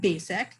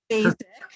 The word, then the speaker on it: Bacak: never am but i'm here to introduce matt basic and that's how you say his name so basic right okay so um but i didn't know